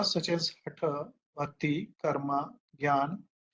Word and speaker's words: ज्ञान: जे एन ए एन और इसको pronounce ज्ञान किया जाता है और लिखा हुआ है जनाना अगर आप पढ़ेंगे तो तो आप अगर ऐसा करेंगे तो आपकी गलती दिखेगी जैसे आप में से